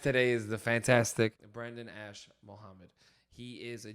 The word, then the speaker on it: Ash-Mohammed: Our guest today is the fantastic Brendan Ash-Mohammed. He is a G. Did I say your name correctly? You did say my name correctly.